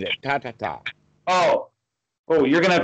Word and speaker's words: Tathata: And Tathata? I just said it. Tatata.